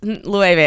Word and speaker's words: Loewe: So Loewe, Loewe. Yeah, I said it wrong. I was like, oops, Loewe.